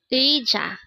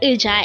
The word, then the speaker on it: 의자: So that's pronounced as ui.